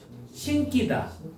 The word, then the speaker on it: 신기다: 이거 발음해 봐. 신기다. 원래 안 돼. 신기다래요. 신기다. 어, 너네 자장면 짜장면 자장면 이렇게 하는 것처럼. 그러니까 원래 이게 그러니까 요거는 원래 신기다라고 해야 돼요.